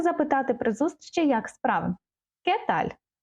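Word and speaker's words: qué tal: при зустрічі Як справи кеталь перше ми бачимо ця літера не читається і наголос не забуваємо ставити знаки запитання попереду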